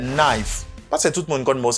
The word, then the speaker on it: knife: And secondly, we have the word knife. Knife. Knife. Letter K is silent for this word.